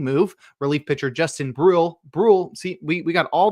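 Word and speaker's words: Bruihl: Brule see we we got all the difficult pronounced names here.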